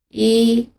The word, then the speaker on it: 一: 第一种就是作为数字单独使用的时候，一、二、三，这个时候的一是读原声的。